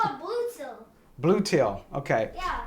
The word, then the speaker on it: Bluetti: It's called Bluetti. It's called Bluetti. See, you can't even pronounce it. It's called a Bluetti. Bluetti, okay. Yeah. It's like a blue tiller.